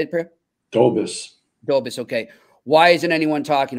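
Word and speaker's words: Dobeš: Dobis, okay.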